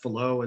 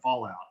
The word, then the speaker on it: Fallot: the tetralogies of Fallot, and that's pronounced Fallot. It's I guess a French guy. And so they're all kind of strange anyway. And so it's Fallot instead of fallout.